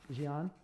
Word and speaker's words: Xi'an: I don't know how to pronounce this, but it's, what is it, Xian? Xi'an?